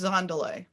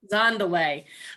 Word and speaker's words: Dzendolet: i'm not gonna sure the d is silent so it's zandalay zandalay um with kdz designs